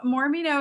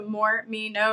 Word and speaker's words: Mormino: you start the business so Morino is actually my last name so more me know is the business name is my last name spelled out phonetically and that mostly started